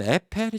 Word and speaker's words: Eiffel: 근데 그거 갖다가 미국은 에이플이라고 하잖아요. 에이플 타워라고 한다고요. 그러니까 미국은 다 지나는 데 있는 거예요. 근데 거기다 대고 한국에서 야 무슨 에펠이 촌스럽게 발음이 그 뭐냐 에이플 타워 예 이렇게 얘기하면 재수 없는 게 되겠죠.